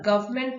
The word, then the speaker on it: government: और गवर्नमेंट में N silent होता है, बट इट इज a part of the spelling, GOVERNMENT.